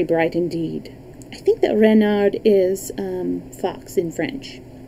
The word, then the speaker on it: Renard: is king renard iv renard with the accent on the ren what's wren ask button